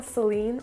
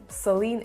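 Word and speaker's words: Céline: on the east so the first e in celine would have like an accent going this way and that makes kind of a say sound so it's not sir but it's more of a say and i guess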